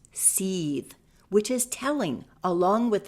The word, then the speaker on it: Seth: Seth should be pronounced sethe which is telling along with the heakasuit capital being called avarice.